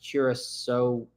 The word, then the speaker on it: Kurosawa: Stan says, Sam, I believe the Kurosawa is pronounced Kurosawa.